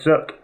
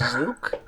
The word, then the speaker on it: Zuk: gonna fire it at zuk wait are you still invisible uh it's pronounced zuke um is there still